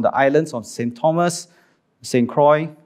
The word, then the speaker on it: St. Croix: Thomas, St. Croix, or if you are French, maybe it's pronounced Sakwa.